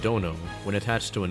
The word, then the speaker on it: dono: So dono, pronounced dono, when attached to a name, roughly means lord or master.